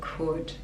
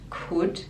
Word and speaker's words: could: I knew I never could even when I knew knew the k is silent I knew I never could I never could again the l is silent could and never like schwa